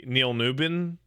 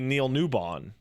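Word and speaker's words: Neil Newbon: Neil nuan's name correctly apparently tons of people say Neil nubin or some but it's like NE WB n that's clearly Neil newon you're the only one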